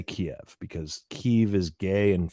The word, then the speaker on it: Kyiv: When Putin invaded Ukraine, he thought he would take Kyiv and all of Ukraine in a matter of days.